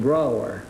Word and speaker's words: Brougher: Brougher. Brougher, huh? Yes, it rhymes with B-R-O-W-E-R.